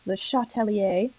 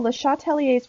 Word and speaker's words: Le Chatelier: It's kind of a hard name to pronounce, Le Chatelier, obviously French.